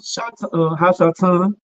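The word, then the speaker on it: השטן: So now Christians are thinking that it's talking about the literal being Satan himself, Hashatan. That's how you pronounce it in the Hebrew.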